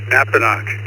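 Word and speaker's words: Napanoch: Is that how you pronounce that? Over to you. Yes, sir, you got it correct. Napanock in the Catskill Mountains of New York State,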